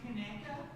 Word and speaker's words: Conecuh: Is pronounced Conecuh Thank you.